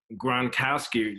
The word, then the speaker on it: Gronkowski: a couple weeks ago when they announced that Gronkowski that's how you pronounce his name yeah yeah you got it